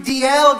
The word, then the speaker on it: Dalziel: No, it's Rory Duguid, 32 DL Gardens.